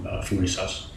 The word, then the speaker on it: Thurisaz: It is pronounced as Thurisaz. I will add a little description in the video itself so that you can, look it up and as to how you would pronounce it. Thurisaz is actually related to our compound of th in English, like the god Thor or thumb.